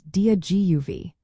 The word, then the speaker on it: Dia Daoibh: The dia part sounds like dia, similar to the beginning of the word diagonal.